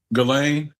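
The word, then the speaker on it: Ghislaine: Just call her Galain because when you say it other ways, it sounds way too close to my name and I don't like that. Galain. Yeah. Galain is how you pronounce I can call her Maxwell.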